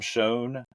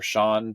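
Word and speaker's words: Shone: book The Nolan Variations by Tom Schoen um or Sean depending on how he pronounces it it's s-h-o-n-e um it's a really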